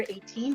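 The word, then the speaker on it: A'TIN: mean okay so it's spelled a apostrophe t-i-n pronounced as the number 18 because i'm remembering that's 19.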